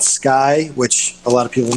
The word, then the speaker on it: SCCY: here in florida there is a company called sky which a lot of people mispronounce that name but it's sccy and they